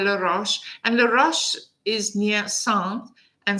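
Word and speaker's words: Sens: And LAROCHE is near Saintes, and Saintes is the beginning of, it's spelled S-E-N-S, is the beginning of Burgundy, which is the province in which Dijon lives.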